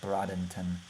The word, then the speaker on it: Bradenton: was Bray den ton Bradenton brought actually pronounced like Bradington and then hopefully if